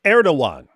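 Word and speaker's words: Erdoğan: don't you correct David that g in Turkish is silent it's not even Turkish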